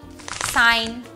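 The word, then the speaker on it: sign: সাইলেন্ট হতে পারে যেমন সাইন ডিজাইন ফরেন এই সকল শব্দে কিন্তু জিটা সাইলেন্ট আবার অনেক সময় জি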